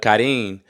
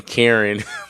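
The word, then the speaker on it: Karin: development from Ichigo Rukia um Chad somewhat uh Kadin I just found out that that's how you pronunciate her name because I was saying Karen beforehand but then I watched the uh first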